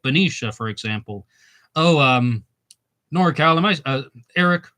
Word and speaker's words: Benicia: But Benicia is correct. Well, all right, I'm going to try that because it's Benicia, right?